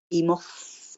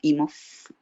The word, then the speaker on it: Imhoff: Imhoff, como ruso, ¿no? Imhoff. Alemán.